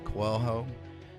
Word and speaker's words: Coelho: we're very happy to be talking with kwang-ho he's a CEO and co-founder of mibu did I pronounce everything correctly yeah thank you on the